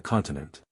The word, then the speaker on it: continent: took place on the continent. He pronounced the last truly admirable word with the accent on the last syllable, not as unaware of